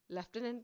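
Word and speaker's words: lieutenant: the right one अच्छा हम लोग लूटने पढ़ते हैं या लेफ्टनंट पढ़ते हैं लेफ्टनंट पढ़ते हैं मगर इसकी प्रोनंसिएशन तो लेफ्टनंट है मगर वर्ड होता है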